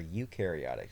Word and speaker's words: eukaryotic: cell organisms that are eukaryotic cells uh if you remember eukariotic cells um the word uh eukaryotic cell starts with EU and uh you pronounce it U and so you remember